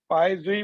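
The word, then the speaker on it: Poiseuille: तो ये यूनिट लिखिए या पाई जूल लिखिए, इसमें l वैसे साइलेंट होता है, पाई जूल बोलते हैं उसको, बट वी can call it पाई जूल।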